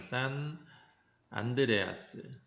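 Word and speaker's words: San Andreas: 산이라고 되어 있는데 샌이라고 보통 발음을 하면 산 안드레아스 단층이 가장 대표적인 변환 단층에 해당한다.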